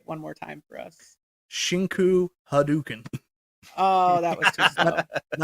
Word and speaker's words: Shinku Hadouken: Shinko Hadouken. That's not really how it's said.